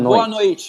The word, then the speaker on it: Boa noite: You pronounce that Yeah. bonnoit, Boa bonnoit, noite. Boa Boa noite.